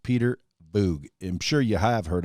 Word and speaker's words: Voogd: o o g d d is silent the d is not pronounced peter boog i'm sure you have